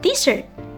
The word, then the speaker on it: desert: The first syllables is this and with the stress on the first syllables.